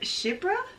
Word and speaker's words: Chypre: I had to figure out how to pronounce it, but I think it's called Shipra. The Shipra sandals from Hermes.